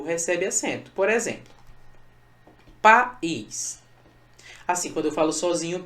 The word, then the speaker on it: país: País, eu separo assim. Veja que entre o A e o I rola um hiato, beleza? E nesse hiato, um dos elementos do hiato é a sílaba tônica. O I é tônico, tá?